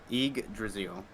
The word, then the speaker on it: Yggdrasil: fuck do you pronounce that? Yggdrasil.